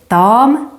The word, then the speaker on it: dam: Nevertheless, we also have some other words, such as dam, tjej, flicka. Let's talk a bit about their differences. Dam, with a long Swedish a, is our word for lady.